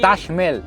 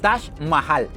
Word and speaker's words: Taj Mahal: Mais parfois, vous le prononcez « mé-el », n’est-ce pas ? « Taj méel » Parce que les Indiens n’utilisent pas d’accents en parlant.